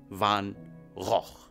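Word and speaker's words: Van Gogh: راه قلبت على السميه ديالو كيفاش كتنطق، وكتنطق فان غوخ.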